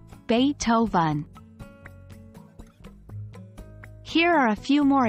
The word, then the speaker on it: Beethoven: Beethoven the renowned composer it's not beef oven as you might think but rather Beethoven here are a few